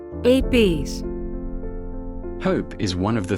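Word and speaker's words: ἐλπίς: This is how this word is pronounced. ELPÍS.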